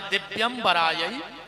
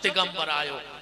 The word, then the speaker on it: दिव्यंबरायै: शुद्ध उच्चारण है दिव्यंबरायै च दिगंबरायो, और आदमी जल्दी जल्दी में बोलत है दिगंबरायै च दिगंबरायो, दोनों बार दिगंबर दिगंबर कहता है।